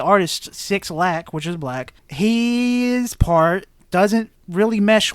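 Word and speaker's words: 6LACK: Do they not just say his name is Black? I think it is Black, but it's Six Lack. The B is a 6.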